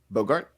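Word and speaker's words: Boggart: uh severus snape bought bogart bug not bogart no it's not not like humphrey bogart it's a okay you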